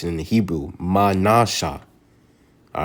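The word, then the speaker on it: מנשה: 7 is in the Hebrew is Manasha. Manasha. That's how you pronounce it in the Hebrew. Manasha.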